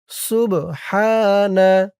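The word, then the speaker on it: سبحان: সুবহানা, সিন বা পেশ সুব, সুব।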